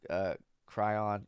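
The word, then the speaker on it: chyron: A lower third Cryon, I think that's pronounced Cryon, reads, B.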